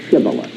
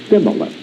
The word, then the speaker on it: Shibboleth: If he said, Nay, then said they unto him, Now say Shibboleth, word that meant a stream. And he said Sibboleth, for he could not frame to pronounce it right.